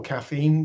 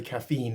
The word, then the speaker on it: caffeine: course is caffeine or caffeine we don't say caffeine in England we say caffeine we put emphasis on the first syllable Americans tend to put